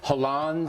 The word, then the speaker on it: Hollande: In the Talking Points memo, I said that the coup that the French elected, Hollande, is that how you say his name?